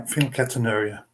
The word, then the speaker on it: phenylketonuria: So, did I butcher the name? I told you I was going to try. So, phenylketonuria. That's right. Yeah, phenylketonuria.